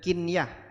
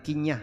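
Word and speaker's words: قنية: Bacanya kinyah, bukan kinyah ya.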